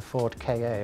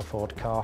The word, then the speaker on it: Ford Ka: a Fiverr it's a Ford KA or Ford car however you want to pronounce it um but a